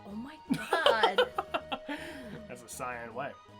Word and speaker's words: Cyan: That's the Cyan way. I've heard some people pronounce it as Cyan, and I'm like, no, Cyan is literally a word. Yeah, it's like the color.